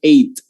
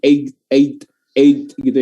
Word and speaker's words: eight: tidak dibaca maka teman-teman cuman bilangnya eight jadi-jadian adalah jangan ada di yang bilang eigyou ya jangan ada yang g-nya nggak usah nyangkut ya cukup aja How